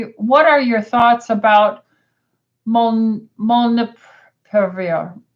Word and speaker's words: molnupiravir: Okay, so Deborah said, what are your thoughts about molnupiravir? How do you pronounce that?